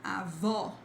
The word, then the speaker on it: avó: Then when you see this accent mark, like this risk on top of the word, you have a strong sound, like it's the stressed part, the stressed syllable, like avó, and then vovó.